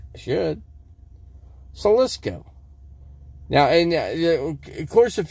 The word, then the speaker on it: Slisko: Salisko. I'm pronouncing it right. I mean, it's my name. I should know how to pronounce it right. I should. Salisko.